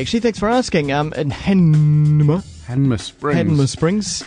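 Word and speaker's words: Hanmer Springs: In Hanma Springs. We all say it wrong. We do. It's got everyone go Hamna. Yeah. There's no ham.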